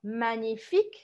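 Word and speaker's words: magnifique: que a palavra manif Olha só manifik magnífico primeiro aqui você vai perguntar como se fosse um erro normal tá esquece o g Magnific Magnific Qual que é a sílaba forte é o fim ou seja a última sílaba Então quando você falou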